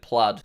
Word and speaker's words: Plaid: But if we want this new Plaid version, I think it is pronounced Plaid, by the way. I thought it was Plaid, but I saw Elon Musk pronounced it Plaid. So I guess we'll go with Plaid.